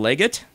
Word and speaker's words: Leggett: got tight end Jordan Leggett is that how you say it yeah with two G's and two T's interesting and fifth they